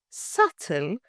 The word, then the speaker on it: subtle: And the word subtle, pronounced subtle, not subtle.